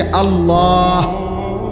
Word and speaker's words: আল্লাহ: শেষে আল্লাহ। শেষে একটা গোল হা আছে ছোট হা।